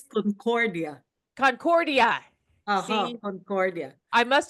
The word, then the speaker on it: Concordia: Today, I have Concordia, and she is a transformational coach of Dream to Rise. Did I say your last name correctly? I've been practicing it all day. Actually, it's Concordia.